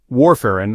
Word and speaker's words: warfarin: Warfarin, also known as Coumadin, is pronounced warfarin.